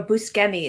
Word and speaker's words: Buscemi: time and you guys saw Steve Buscemi or buskenny as he would present it yeah it was scary okay sorry it's one of those ones that we all pronounce wrong and so it's just taken that way now but yeah I mean